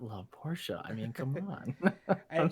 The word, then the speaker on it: Porsche: it yes it's well the fact that we pronounce it as a two syllable name is what's snobby snooty boujee i don't know yeah i don't care what you say it's a two-syllable word in my opinion porsches are the benchmark